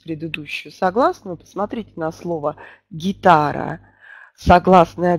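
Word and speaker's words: guitare: То французские согласные не смягчаются ни в какой позиции. То есть «г» будет произнесена очень четко. «Гитар», «гитар». Такое ощущение, как будто после «г» мы произносим «ы».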